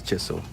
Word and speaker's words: Chisel: Chisel, yes, it's Chisel. Chisel. You guys have to call it Chisel. That's how they pronounce it.